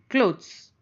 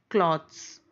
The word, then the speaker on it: clothes: But the difference between cloth or cloth means unstitched one cloth, stitched one clothes. Okay, cloth or clothes. Clothes. Clothes. See the pronunciation? Clothes. We generally say cloths.